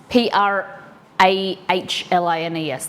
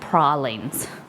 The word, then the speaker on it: pralines: They have pecan pralines. Prahlines. That's how they pronounce it, pralines.